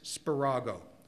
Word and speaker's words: Spirago: It was called The Catechism Explained by Father Francis Spirago. I'll spell it for you.